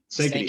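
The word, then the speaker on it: Sankaty: So I think when I heard that you guys were, at, correct me if I'm wrong, Sankati, is that how it's pronounced? Sankity Head.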